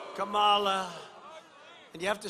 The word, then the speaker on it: Kamala: Kamala. Kamala.